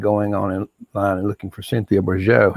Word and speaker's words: Bourgeault: online and looking for Cynthia Bourgeau. It's spelled Bourgeault, the Reverend Cynthia Bourgeau, or Thomas Keating, and